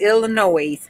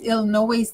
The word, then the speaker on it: Illinois: Debbie hey Elisa yes Illinois the S is silent but I don't know if I'm pronouncing that correctly or not but we just gonna say Illinois hi Alissa it is